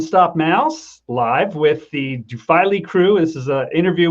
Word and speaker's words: Duphily: It's a short I then? Yeah. Yes, Duphily.